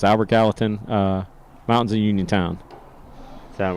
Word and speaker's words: Albert Gallatin: i was i was going to say it's pronounced glayton no but it's albert gallatin uh mountains of uniontown that one was high